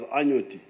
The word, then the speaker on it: Anot: one of my schoolmates David anot David anot you pronounce it as anot that gentleman was with